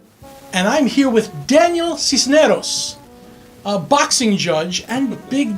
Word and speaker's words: Sisneros: So did I pronounce that right? Cisneros? Cisneros.